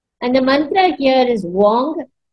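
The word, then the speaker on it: Weng: the Mantra here is Wong w e n g but we pronounce it as w o n Wong okay and we'll visualize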